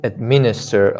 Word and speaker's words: administer: heard someone said administer no it's not right the street is on m the syllable administer administer if you say administer you're placing a stress on this part first of all that is not right administer right and minister it's